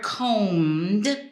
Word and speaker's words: combed: you say this word combed now the B is silent so you got to ignore it all the all that